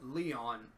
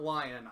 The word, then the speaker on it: Leon: I have to say about Leon not lion although I'm probably gonna